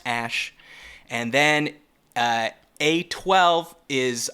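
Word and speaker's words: Æ: the letter X then the AE is pronounced Ash and then uh a12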